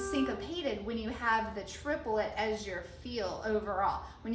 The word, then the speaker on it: triplet: how we count the triplets all right normally in the english language triplet is like a two-syllable word triplet but in music it's considered a three-syllable word and that's how we